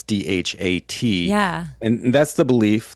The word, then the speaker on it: Dhat: There's also one called DOT. I've heard it's pronounced DAT too. It's DHAT.